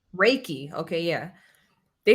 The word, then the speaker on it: Reiki: something where they said what's it how's it pronounced? Reiki? Reiki? Reiki. Reiki.